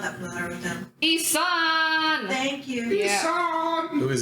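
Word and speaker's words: Ihsahn: You're gonna need to pronounce this dude's name for me because I'm not that familiar with him. Isan.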